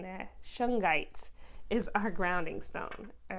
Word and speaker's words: shungite: suge knight um or how do you pronounce this shungite i think i said shik knight you know i was thinking that suge knight the rapper anyways shungite all right so let's